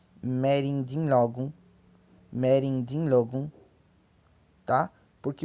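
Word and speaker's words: mẹ́rìndínlógún: Logo, 16 pronuncia-se merindinlogum.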